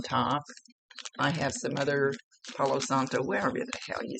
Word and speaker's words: Palo Santo: Santo Palo, whatever the hell it's called. Palo Santo. I always get it backwards.